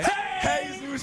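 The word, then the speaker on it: Jesús: What is his name pronounced properly? And where is he from? Hey Jesus Mday. Hey Zeus Mday, baby.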